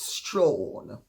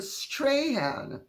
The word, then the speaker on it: Strahan: Also, Michael Strahan, I think is how it's pronounced in America. In England, it's Strawn. But Michael Strahan, I thought was pretty good as well.